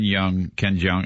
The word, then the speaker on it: Jeong: And then Ken Jeong, how do you say Ken it? Jeong.